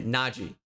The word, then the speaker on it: Najee: state tj watt minka naji harris i mean oh not najee by the way naji people uh mispronouncing that nachiaris juju is